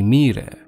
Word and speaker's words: Moirai: three sisters of fate, the Moirai, or the Myrae, if you want the Greek pronunciation.